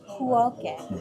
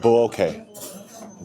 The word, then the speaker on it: Bueokae: How do you pronounce this? Bueokae. Bueokae.